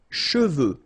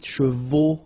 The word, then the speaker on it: cheveux: Sèche, okay, sèche, and then cheveux. Usually this one is a bit of a problem because some of the students normally pronounce it chevaux, okay?